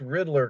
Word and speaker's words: Ridler: It's Riddler, correct? Or is it Rider? Is, yeah. Okay. That's right, good. Riddler.